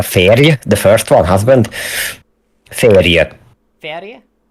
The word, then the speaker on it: férj: Like, Fairy? There's a J there, and I don't know why. A férj, the first one, husband. Férje. Fairy? Férje.